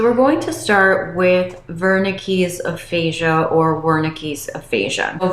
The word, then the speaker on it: Wernicke: In today's video, I will be going over the difference between Broca's aphasia and Wernicke's aphasia, also sometimes pronounced as Wernicke's aphasia.